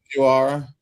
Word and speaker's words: Fujiwara: Fujiwara.